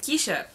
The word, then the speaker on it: Keisha: way to wrap up my name is keisha because everyone wants to know how is pronounces it keisha or Ke$ha and I didn't have this problem to cash it came on the scene okay it's always been Keisha and cash it became